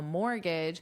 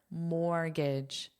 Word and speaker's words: mortgage: Mortgage. mortgage. Well, this T is totally silent, but also notice how this is pronounced is not pronounced the way it looks because the sound is unstressed.